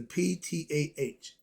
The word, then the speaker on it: Ptah: Is the Ptah, but the P is silent, like the D in some spots.